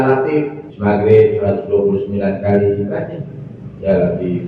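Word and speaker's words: يا لطيف: Saya kata dia bacanya gini ya. Ya lat ya lat ya lat tukang turun yang datang bukan begitu ya. Ya lat ya lat yang benar baca itu asma Allah. Ya latif ya latif ya.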